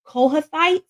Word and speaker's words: Kohathites: okay this was usually done um by the kohathites is how it's pronounced they usually carry the arc the Levites